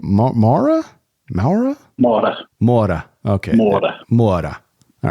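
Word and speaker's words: Moura: so there you have Wagner how do you pronounce his last name MAA MAA MAA MOA okay MOA MOA all right there we go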